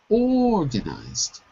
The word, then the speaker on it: organized: organized listen to me organized organized the stress is on the first syllable we organized the brf